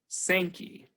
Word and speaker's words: Sankey: Sankey. So I would say that there are only two correct ways to pronounce the name of this stream, Zanja and Sankey, and I will use them interchangeably.